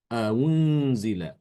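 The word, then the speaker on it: أَؤُنْزِلَ: Jadi baca antara hamzah dhammah dengan wawu dhammah. Antara u dengan wu. Antara u dengan wu. Jadi dibacanya unzila. Unzila.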